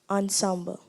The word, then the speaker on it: ensemble: Am I pronouncing the word correctly? Ensemble. Yes. Ensemble. ENSEMBLE.